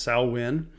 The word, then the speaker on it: Samhain: Some call it Samhain, again pronounced Samhain, but spelled like Samhain.